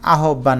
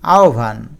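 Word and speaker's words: আহ্বান: এটার সঠিক উচ্চারণ আহবান না আহভান। এইযে আহভান।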